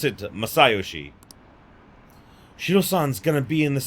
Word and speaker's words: Masayoshi: They pronounce it Masayoshi.